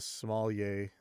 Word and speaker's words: sommelier: But he didn't tap the wood, so he's not being very much of a sommelier.